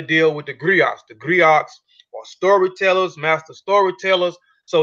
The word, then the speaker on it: griot: or jelly professions encompass many roles the Greeks pronounced griot have been referred to as historians and storytellers